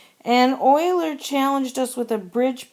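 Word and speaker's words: Euler: named Oiler it looks like uler but it's pronounced Oiler and Oiler challenged us with a bridge problem asking us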